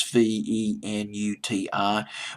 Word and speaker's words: Venuti: Venuti, in case I'm mispronouncing the word, is Venuti.